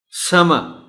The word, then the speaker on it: summer: Whereas it is not to be pronounced clearly. The word is summer.